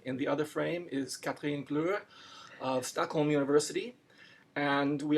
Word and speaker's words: Kathrin Glüer: Kathrin Glüer.